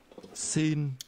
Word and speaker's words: xin: The first part is pronounced with a mid-level tone. Xin.